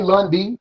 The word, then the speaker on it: Lundee: in this episode oh you could just say lundy you keep it short you know okay so